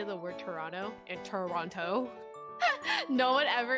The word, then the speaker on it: Toronto: If you talk to anyone from Toronto, they're going to pronounce it as Toronto and not Toronto, like how it's actually spelled.